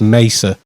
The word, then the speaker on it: Mesa: In America, I'm pretty sure it's Mesa. I get criticised for calling it Mesa because I'm British, so we say it wrong apparently. But apparently. Mesa Boogie apparently. Mesa call it Mesa, so it's Mesa.